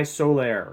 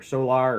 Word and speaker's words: Solar: to be talking about s by Solair or solar or solar I think it's Solair I think is how you're supposed to pronounce it uh byola England so